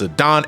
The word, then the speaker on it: Zidane: with the character and they pronounce his name as zadon and you had you cannot believe the amount of validation I felt in my heart when I realized I was always pronouncing it the right way so it is but